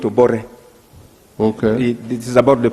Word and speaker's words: Obote: Like when you're writing Obote, you call it Obore.